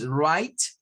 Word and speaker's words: right: Luego tenemos right, que ya habíamos visto que la combinación de IGH nos genera un sonido I.